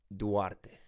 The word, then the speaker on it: Duarte: it's pretty funny because my last name everyone mispronounce it it pronounces a spelling wrong no you just know there are so many ways to say it so further record if no one knows how to pronounce my last name it's Duarte okay so thank you